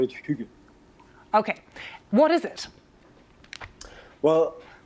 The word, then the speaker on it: hygge: I usually call it hygge.